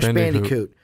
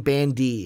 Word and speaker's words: Bandicoot: i don't know why i'm saying bandy its bandicoot don't know why i'm